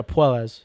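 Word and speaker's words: Puelles: Yeah, Puelas.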